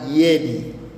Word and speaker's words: yedi: Na namba saba utamkwa Yedi.